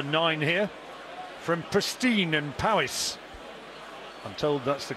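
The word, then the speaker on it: Powys: year seeded number nine here from pristine and Powis I'm told that's the correct pronunciation just over the Wales Hereford should border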